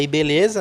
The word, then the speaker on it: IBLZ: Muito bem, muito obrigado e tá aqui na descrição, tá, o site, né, o IBeleza, a gente fala IBeleza, né, mas se escreve IBLZ, E tá aqui na descrição.